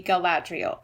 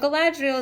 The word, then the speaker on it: Galadriel: I think I've heard most people put the accent on the second syllable, so it would be Galadriel.